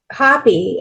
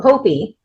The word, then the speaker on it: Hopi: If you think about um those in the Navajo or um Hoppy um Hopi, I said it wrong, but the Hopi, they have um what